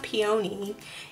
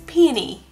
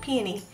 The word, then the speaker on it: peony: of them I'm like it's not peony its peony that's how you say it peony it's a funny little